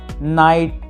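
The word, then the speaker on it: knight: तो इनकी प्रोनाउंसिएशन कुछ इस प्रकार से हो जाती है, नो, नाइट, नॉट, नाइफ और नॉक।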